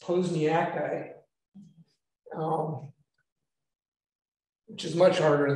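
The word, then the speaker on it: posnjakite: mineral containing lead and sulfate go ahead and pronounce that one it's posniaki um which is much harder than the chemistry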